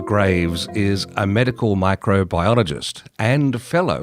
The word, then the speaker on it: gravesi: Australian ornate kangaroo tick named after him, Rickettsia gravesi. Is that how it's pronounced, Stephen?